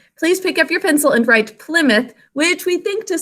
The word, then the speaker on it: Plymouth: But we say Plymouth. Okay, show me markings here. Now, when we pronounce this word, we say Plymouth. So we actually say the first vowel sound, so we're not going